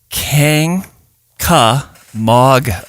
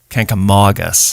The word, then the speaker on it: Kancamagus: up first of all the pronunciation uh is can K MOG so the the MOG is MOG MOG canka MOG us just say the can